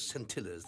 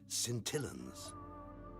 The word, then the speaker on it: scintillans: They're those scintillas. They're actually pronounced scintillans.